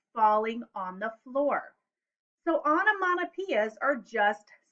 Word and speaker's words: onomatopoeia: to write poems using onomatopoeia there's a big word say it with me onomatopoeia a lot of syllables six syllables so um first of